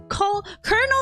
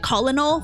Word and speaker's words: Colonel: him it is him colonel s by the way I I pronounced it colal for the longest time apparently it's Colonel because some Frenchies made it that way I still don't believe it Colonel Sanders interrupts sprinkles